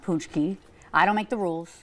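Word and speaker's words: pączki: of Marty gr and it's spelled so not like it sounds it's p a c z k i but it's pronounced punchki I don't make the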